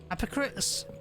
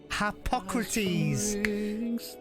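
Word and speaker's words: Harpocrates: I never remember how to say his name Hypocrites hypocrite I might just call him ha of dread in is oh it's h hypocrates thank you so much uh e yes might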